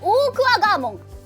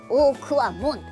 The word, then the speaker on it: Okuwamon: Staff: Umm… Terriermon, you actually said "Okuwagamon."